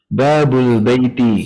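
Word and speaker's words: باب البيت: gimana Pak Rahman jadinya babu albaitin albaiti ya Nah gitu Mumtaz babu Al Baai ya nah gini nah tapi kita ketika membacanya Babul Baiti gitu ya Babul Baiti Nam jadi langsung sambung ya Babul Baiti baik nah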